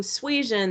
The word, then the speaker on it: suasion: what we call moral suasion so sweet if you're thinking suezen that sounds like the word persuasion you are right so moral suasion uh